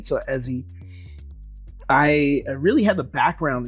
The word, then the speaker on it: Eze: um really my name's eie uh it's pronounced Eddie with a z so eie I really had the